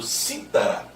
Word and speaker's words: cítara: Imagine o mesmo verbo no pretérito mais que perfeito. Citara. No sentido de tinha citado. Citara. Imagine agora, por favor, aquele instrumento musical chamado cítara. E aí a sílaba tônica é a terceira de trás para frente.